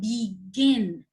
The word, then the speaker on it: begin: consonant and add ing begin i didn't say begin i said begin are you guys with me reem are you with me yes okay begin it means the second syllable is stressed at best what does